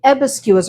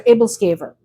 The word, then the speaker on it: æbleskiver: We called them Æbleskiver or Æbleskiver. There's a couple of different pronunciations.